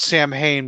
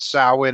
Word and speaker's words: Samhain: know talk about uh not sam hayne but how is it pronounced in ireland when yeah talk about samhain and druids and how